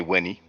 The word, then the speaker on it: Weni: It's really Uni, but let's say Weni.